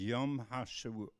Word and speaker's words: Yom HaShoah: store for them but Yom Hashoah should be pronounced as yum hasha hasha the hog vara and